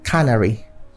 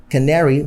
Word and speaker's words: canary: and canary as simply cannery yes so but that is wrong cannery has to stress on the first syllable canary has the stress on the second syllable so you try to